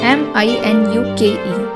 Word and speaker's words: Minuke: They christened the place Minuke, M-I-N-U-K-E, Minuke.